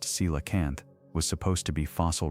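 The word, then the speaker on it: coelacanth: The coalacanth pronounced cilacanth was supposed to be fossil record only.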